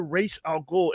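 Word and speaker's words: Ra's al Ghul: weird but I I I guess there's it's been pronounced both ways but you don't hear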